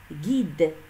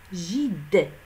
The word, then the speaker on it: guide: G-U plus I, Gui, guide. Nous sommes obligés d'ajouter un U pour ne pas prononcer gide.